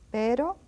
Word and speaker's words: pero: Now comes the R that is in between. That is not the initial R. And we say it's quite slow and quite softly. Pero, which means but.